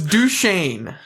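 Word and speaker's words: Duchesne: So, it's Duchain. Super weird cuz like Dukane is how you say the university, which is Yeah.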